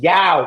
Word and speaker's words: Yaw: It's not y'all. It's Yao. You guys heard of Yao Ming, the basketball Yao player? Ming, yeah. That's how you say it.